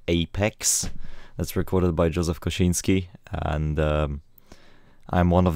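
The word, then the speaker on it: Kosinski: is allegedly called Apex that's recorded by Joseph koshinski and um I'm one of the few people that can actually pronounce his name properly uh enough of being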